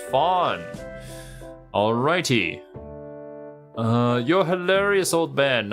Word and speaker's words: von: Vaughn in noble titles is pronounced Fawn.